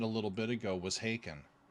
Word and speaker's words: Haken: little bit ago was Haken. Okay. Um they uh it's spelled H A K E N. It's haken like bacon.